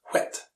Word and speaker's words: whit: I is pronounced ah, and what is pronounced whit.